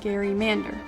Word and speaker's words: gerrymander: drew resembled a salamander hence the term gary mander but for the sake of the argument we'll just continue to pronounce it wrong because odds are if you pronounce it right people will tell you you're saying it wrong back to gerrymandering with the j sound jerry if that even